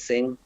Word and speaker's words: Singh: i pronounce it correct just like satan you have to sing a song so it says sing all right that's interesting